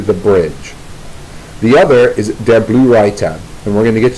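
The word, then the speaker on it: Der Blaue Reiter: The reality is that she was involved more fully with the latter group, Der Blue Reiter, that's how you pronounce it, which translates to the Blue Rider.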